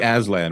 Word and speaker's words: Aslan: Uh usually Aslan with a Z as opposed to the S, but uh I think you're probably fine.